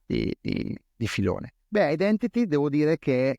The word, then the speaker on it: IDNTT: che allora si chiamava ID Entity anche adesso è idntt Ma sai poi tu appunto vivendo a Londra sai che la pronuncia è identity ci piaceva questo gioco